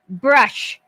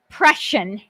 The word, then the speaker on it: Prussian: say tweet out a video of how to pronounce things brush prussian thank you prussian got it yeah anytime i